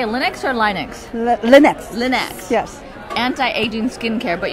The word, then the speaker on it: Lynex: Lynex.